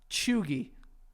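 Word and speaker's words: chuegy: okay I'll get this choogie nope that's how you pronounce it we spell it oh that'll help you yeah CH yeah e u g y ogey Joey no I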